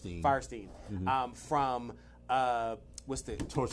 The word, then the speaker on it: Fierstein: Is it Firestein or Fierstein? Firestein.